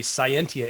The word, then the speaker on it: Cyentia: uh if you are not familiar with the scientia Institute first of all I know it's a